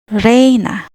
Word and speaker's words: reina: And the last sound is a, like the word they. Reina, reina, queen.